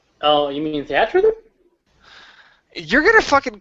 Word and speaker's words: Theatrhythm: Anything more to say about Theater Rhythm? Oh, you mean Theatrhythm? You're gonna fucking call me on No. that pronunciation Viat Rhythm.